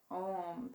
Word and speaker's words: Om: gonna chant this word we need to pronounce every syllable so we do the a the u and the m and it's just through